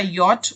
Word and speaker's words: yacht: अगला वर्ड है हमारा यॉट, ओके, इस तरह से इसकी प्रोनाउंसिएशन होती है, YACHT की प्रोनाउंसिएशन ऐसे है।